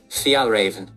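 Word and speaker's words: Fjällräven: So according to Siri, it's pronounced Fjallraven.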